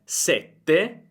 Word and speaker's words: sette: Oppure sette, sette, sete, sete. Sette, il numero, sete. Avere sete, avere voglia di acqua.